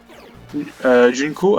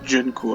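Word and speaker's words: Jungko: En termes de prononciation d'ailleurs, Junko, avant je disais Junko. Vous voyez? Je disais Junko avant. Et maintenant je dis Junko. Junko. Enfin, je sais pas pourquoi ça a changé.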